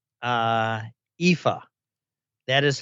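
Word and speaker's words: Aoife: you phil and i've figured out how to pronounce uh ifa that is how you pronounce it and and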